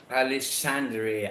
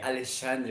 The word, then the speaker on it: Alexandre: what is the Portuguese pronunciation? Sorry. Alexandre. Alexandre.